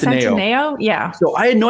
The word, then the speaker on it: Centineo: I'm mispronouncing his last name. Is it Centineo? I think it's Centineo.